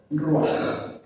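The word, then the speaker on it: רוח: Y ahí, a propósito, puse la palabra con la cual se designa, se escribe espíritu en hebreo: ruaj, así como suena.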